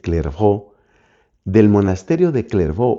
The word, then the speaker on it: Clairvaux: This is important because the monastery of Clairvaux, in French it's called clervó, from the monastery of Clervó or Clairvaux, a large number of new monasteries emerged.